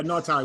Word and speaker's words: Ngatai: Yeah, Ngatai, yep. There's a G in there as well, but I think that's how you pronounce it.